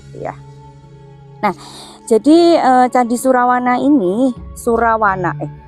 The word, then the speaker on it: Surawana: Nah, jadi ee Candi Surawana ini Surawana eh Surowono. Nah, itu ya kalau penulisannya itu Surawana ya. Tapi mungkin e untuk dibacanya itu Surowono ya.